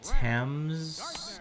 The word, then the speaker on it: Thames: called the Thames and spelled the exact same way but it's pronounced Thames great pitch by would